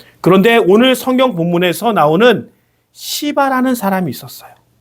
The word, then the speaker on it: 시바: 그런데 오늘 성경 본문에서 나오는 시바라는 사람이 있었어요. 바 발음을 약간 조심해서 해야겠죠. 약한 된 소리로 세게 바람하면 안 됩니다.이 시바라는 사람이 나귀 두 마리에 어마어마하게 많은 음식과 과일과 포도주를 가지고 다윗에게 찾아가서 그것을 베풀어 줍니다.